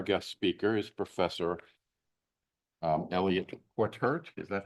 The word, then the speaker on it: Quataert: So tonight, our guest speaker is Professor Eliot Quataert, is that how it's pronounced?